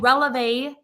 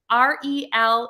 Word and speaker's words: Relevé: Releve. E EV. with a woo. Oh, it's French too. It's a French day. Because this is French. Like releve is a woo on the E, the woo thing.